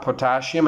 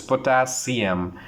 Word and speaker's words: potassium: The third one is potassium, we say that. It's not potassium, it's potassium. The correct pronunciation is potassium.